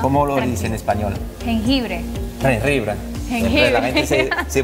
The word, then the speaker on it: jengibre: Ahora, eso me vas a ayudar porque tengo un problema a veces para pronunciar. Ajá, ¿cómo lo dice en español? Jengibre.